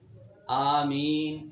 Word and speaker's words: آمین: ایک قول یہ ہے کہ یہ بروزن فاعل آمین مد کے ساتھ ہے، میم مخفف ہے یعنی اس پر شد نہیں ہے.